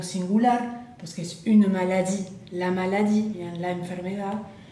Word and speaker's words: maladie: Bien, la pronunciación maladie, mais la E final no la pronuncio.